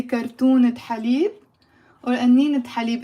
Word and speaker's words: كرتونة: So on its own, again, the word is كرتونة. كرتونة. So there is no pronunciation of the t in the end.